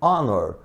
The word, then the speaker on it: honor: O H não é pronunciado.